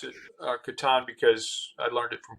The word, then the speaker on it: Catan: And we had to kind of deconstruct that initiative when we became just Catan.